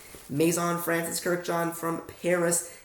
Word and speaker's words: Maison: how to say it I'll slow it down Maison it's like Mason both and I Maison Francis easy Maison Francis Kirk like Kirkland Kirk John the name John Kirk and John Maison